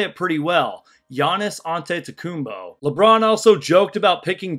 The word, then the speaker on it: Giannis Antetokounmpo: They joked about pronouncing Giannis's last name, which, by the way, I think I say it pretty well. Giannis Antetokounmpo.